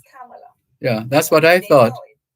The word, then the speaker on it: Kamala: Her name is Kamala. It's Kamala Devi Harris. It's not Kamala or Kamala. Right. It's Kamala.